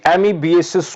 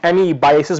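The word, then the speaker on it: amoebiasis: आज हम डिस्कस करेंगे एमीबिएसिस को, जिसको कुछ लोग एमीबाइसिस भी प्रोनाउंस करते हैं।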